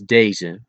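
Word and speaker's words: deze: These is da and it's spelled as d e z.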